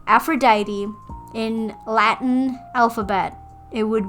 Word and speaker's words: Aphrodite: And Aphrodite, which is actually the most interesting of the pronunciations, is actually pronounced in Greek as Aphroditi.